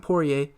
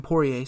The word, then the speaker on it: Poirier: you know got a properly source so Dustin Poirier and that's how you pronounce his last name her PO che PO a all that good stuff I heard him in an interview said Dustin Poirier so there you go that's how you pronounce